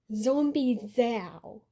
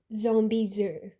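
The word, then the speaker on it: Zombizou: and I read it as Zombie Zo cuz the Zo U kind of looks like it could be said as Zho. It's understandable given the spelling, but once you watch the episode, you hear it and you know it's Zombie Zoo.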